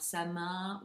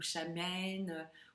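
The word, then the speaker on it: Samhain: Alors Samin ou Chamen ou Saimen, peu importe la prononciation exacte.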